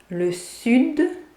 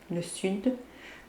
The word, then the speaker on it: sud: Le sud, the south, and we pronounce the D, le sud, but the second one, the north, le nord, we don't pronounce the D, le nord. Le sud, le nord.